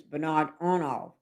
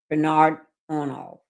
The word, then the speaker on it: Bernard Arnault: His name is Bernard Arnault, and that's $162 billion. And that's his key investment is LVMH. I pronounced this last name wrong. That's Bernard Arnault.